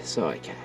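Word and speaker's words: cycad: Scikad pronounced scikad.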